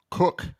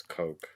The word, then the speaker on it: Koch: But no, it's Cook is the way you pronounce it. No, it's Coke. We call it Coke Metals, and they own a metals company in England. It's called Coke in England, so Koch.